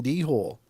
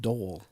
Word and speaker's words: dhole: e and I was like the hell's a dhole but I read the whole article saying de hole and then I came to find out later